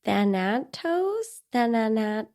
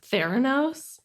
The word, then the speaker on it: Thanatos: I feel like I keep saying it wrong. It's Thanatos. I kept in my head. Oh no. In my head, I kept pronouncing it as Theranos, even though I know that's not what it is.